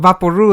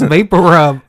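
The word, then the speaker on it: VapoRub: Yeah, but Vaporu is also wrong because they're trying to pronounce vapor rub.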